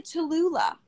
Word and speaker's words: Tallulah: It's a 3-syllable name, which you think isn't a big deal, but it's heavy in the mouth. It is. I think that's the point. People are always shortening my name. It's 3 syllables.